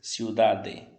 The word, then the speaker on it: ciudad: deve anotar é que você não vai pronunciar totalmente esse de por exemplo nunca você vai ler ciudad nem felicidade tá ok você é um bebê bem leve perceba-se o data felicidade o de você vai encostar a língua nos dentes mas não vai pronunciar totalmente o de se lidar felicidade tá